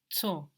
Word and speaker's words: zu: Zu. Zu in German, Z-U. Zu. And the U is long, zu.